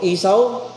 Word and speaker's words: Esau: Si Esau. O kung gusto mong pronunciation esa o isaw bahala ka. Basta yan ang spelling.